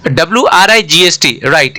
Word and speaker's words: wright: W ऐड हो गया जो साइलेंट होता है।